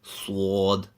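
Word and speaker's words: ص: For the letter sword, you bring your teeth together and release, somewhat similar to the English word muscle. This letter is pronounced full mouth with a slight whistling sound.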